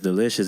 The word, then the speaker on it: Dalishus: His last name is Delicious, but it's spelled differently.